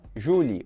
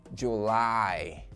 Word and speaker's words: July: Provavelmente você falou Julie ou Julie, né? Não. Mas a pronúncia correta é July.